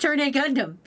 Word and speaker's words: Turn A Gundam: It's pronounced turn a Gundam. There's a polite Australian guy who pronounces it for you in the intro.